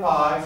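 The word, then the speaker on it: π: seen that in science that's the letter pi or you can call it p it doesn't matter because it's the first sound that's important that's our p sound it's called pi or p please practice writing this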